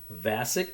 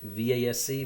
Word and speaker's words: Vasc: the name of Dan, and I think I'm pronouncing it correctly, Vasc, V-A-S-C, Vasc.